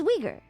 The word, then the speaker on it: Uyghur: It's Uyghur.